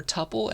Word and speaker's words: tuple: is pronounced as either tuple, like quintuple, quadruple, kind of rhymes with that, tuple, or other people say tuple, like quintuple, right?